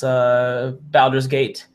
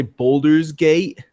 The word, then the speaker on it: Baldur's Gate: engine like Neverwinter Nights I appreciate that you pronounced it correctly because I hear a lot of people say boulders gate oh it's like yeah that's obviously an a is yeah not folder not boulder gate not big rock gate yeah I've